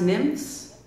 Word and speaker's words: NMFS: NMFS is pronounced nymphs, like the little water nymphs, you know, in your rivers and streams.